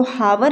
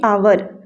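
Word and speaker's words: hour: यहां पर हो जाएगा इसको हावर नहीं पढ़ेंगे साइलेंट अक्षर है यह इसलिए यहां पर इसको पढ़ेंगे आवर मतलब क्या आवर पढ़ेंगे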